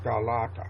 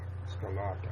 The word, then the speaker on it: scalata: right okay y it's pronounced scalata scalata it's Italian but it's spell I understand